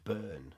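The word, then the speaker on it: Byrne: lad brilliant player and her name's burn b y r n e right but they keep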